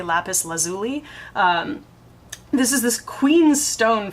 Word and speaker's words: lapis lazuli: picked for me is called lapis lazuli or lapis lazuli depending on how you pronounce it I say lapis lazuli this is this Queen